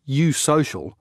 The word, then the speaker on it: eusocial: and can be cultivated in hives the word you social describes the organization of b society it's spelt eu plus social it means there's one